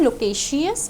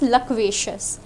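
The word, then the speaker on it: loquacious: है, ठीक है, फ्रैंक, एंड इसकी pronunciation is नॉट लोकेशियस, we pronounce it एज लकवेशियस।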